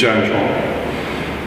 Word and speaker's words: zhan zhuang: of different ways but from my chinese teachers who actually speak mandarin it's janjuan so we're going to